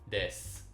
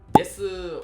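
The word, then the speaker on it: です: But in Kansai-Ben, you would say like です or やります or stuff like that. This u is like really, really pronounced, and you say it a lot.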